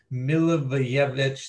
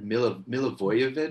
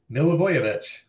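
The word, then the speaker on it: Milivojević: That's not even close. It's like Milivojevic. Milivojevic. We've done this on the You've literally told me how to say it, and I always try to get cute. Milivojevic. There you go.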